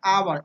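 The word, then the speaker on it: hour: घंटे को इंग्लिश में आवर, आवर, यहाँ पर एच साइलेंट होता है, आवर बोलते हैं ना कि हावर बोलेंगे।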